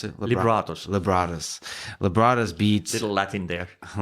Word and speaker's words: Libratus: So in 2017, Libratus, how do you pronounce it? Libratus.